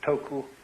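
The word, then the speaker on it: 徳: of this word uh the Japanese pronounce it toku these Cantonese duck and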